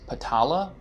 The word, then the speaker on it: Patala: So they have what is Patala, I believe is how it's pronounced, and it's considered to be super beautiful with gems, smells, groves, and music.